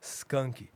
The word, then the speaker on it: Skank: bands right now it's a band called skunky skunky but it's spelled s k a n k oh skanky skank yeah